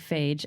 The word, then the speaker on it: Fage: Um Fage being the brand it looks like FAGE, f a g e, but it's pronounced Fage.